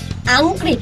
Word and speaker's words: อังกฤษ: ด้วย คำ ว่า อังกฤษ ออก เสียง ก ควบ ร ด้วย นะ ไหน 9 แต้ม พูด